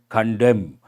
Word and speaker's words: condemn: means what publicly criticize condemn and is silent allies when it comes